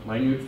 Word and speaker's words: minute: It's not Minute Philosopher, Minute Philosopher.